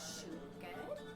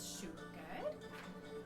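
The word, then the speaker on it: siùcar: And so the way you say sugar in Gaelic is siúgad. So that's siúgad.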